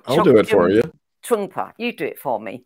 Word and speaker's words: Trungpa: That was Meditation in Action by I always hate these names that I have to pronounce because I always get them wrong, but I'll do it for you. Trungpa, you do it for me.